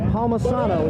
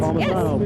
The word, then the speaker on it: Palmisano: It's Palmisano. Is that how you say your last name? That's exactly how you say it. Palmisano, Yes.